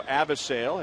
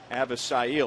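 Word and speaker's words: Avisail: So Avisale has become Avisil.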